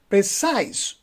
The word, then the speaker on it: precise: Similarly, we have another word that is precise. You see, we have two syllables, pre and size, precise. So we don't say precise. Because if you say precise, so you are stressing the first syllable. You will say precise, precise on the second syllable.